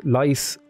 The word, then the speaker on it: Leicester: I know that says Leicester, Leicester, but it's Leicester, or yeah, it's Leicester is how you say it.